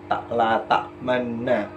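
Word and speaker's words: لَا تَأْمَنَّا: Nunnya kan ini adalah bacaan gunnah. Berarti kan dibaca dua ketukan. La ta'manna begitu. Tapi karena ini merupakan ismam, bacaan ismam, jadi bacanya harus agak sedikit ada mencondongkan ke arah domah, yakni sedikit memajukan bibir di nun gunnahnya itu tadi ya. Tapi jangan bersuara u begitu. Jadi cukup hanya memajukan bibirnya saja.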